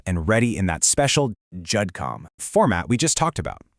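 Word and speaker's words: GEDCOM: And yeah, it's pronounced Judcom.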